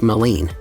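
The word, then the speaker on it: Maligne: Alberta's Jasper National Park midy Lake pronounced malen is the Park's largest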